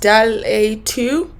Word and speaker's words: DALL-E 2: I think it's pronounced DALL-E 2.